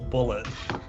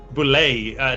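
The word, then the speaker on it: bulette: As you get to see, you see a giant, like a glowing purple crystal bullet. A crystal bullet. It's spelled B-U-L-E-T-T-E. Boulet, depending on how you read your guard's Bullet.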